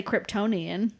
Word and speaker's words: Kryptonian: on the the genealogy assignment in I'll say Kryptonian yeah that is the correct way to say